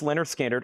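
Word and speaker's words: Lynyrd Skynyrd: Pronounced Leonard Skinnard on the first MCA black label, VG $14.99.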